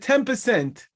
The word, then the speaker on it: ten percent: how I pronounced it I did not say 10 I said 10 percent which is really an M I'm saying an M but we write it as an N every uh English speaker